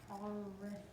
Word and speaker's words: arithmetic: Arithmetic. Arithmetic. Right. It's like arithmetic, only you put it on a different accent on a different syllable.